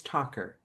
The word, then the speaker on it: Talker: I'm going to mispronounce his surname. I think it's Talker. Talker. Yeah. Talker, yes.